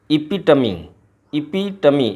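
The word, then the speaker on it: epitome: अगला वर्ड है इपिटमी एपिटोम नहीं पढ़ेंगे इसको। इपिटमी ये फोनेटिक प्रोनाउंसिएशन दिया हुआ है।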